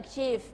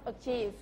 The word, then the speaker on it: achieve: PE PE aave eve ตัว นี้ นะ คะ ออก เสียง ตัว ve ด้วย achieve achieve achieve เหมือน มี for